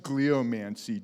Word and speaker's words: Gliomancy: Um, it's pronounced gleommancy. Jeff, I made up the word. It gets pronounced the way that I pronounce it.